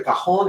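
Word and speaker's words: cajón: up look at the cajon it's spelled c a j o n okay cajon the j has a h sound okay in spanish in the spanish language so the tanks on that h sound so it's called the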